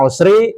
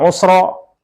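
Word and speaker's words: العسر: ini alif lam 2 bacaannya juga Sama ini dibaca Usri ini Dibaca juga Usri tidak Usro innama Al Usri dibacanya sama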